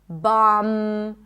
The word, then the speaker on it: bomb: When there is MB, especially at the end of words, the B is not pronounced. So in words like limb, climb, no B, bomb, no B, crumb, plumber, comb, there is no B whatsoever.